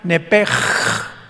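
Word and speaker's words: נפש: Los que quieran apuntarlo, la palabra alma en el hebreo es nepesh, con SH al final, como suena nepesh. Pero la SH en hebreo se pronuncia como J, entonces se pronuncia nepej, como el francés, ¿verdad? Que es gutural, nepej.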